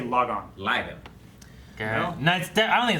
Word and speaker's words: Lagann: I don't think it's log on. I don't think that's the pronunciation, but we'll find out. This episode. It's not log on.